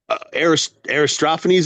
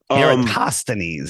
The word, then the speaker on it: Eratosthenes: Because I do know Aristophanes, is that how you say his name? Eratosthenes.